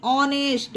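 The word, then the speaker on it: honest: भूत ठीक है फ्रेंड्स एच के बाद अगर ओ हो तो एच साइलेंट रहता है पर नोट करने वाली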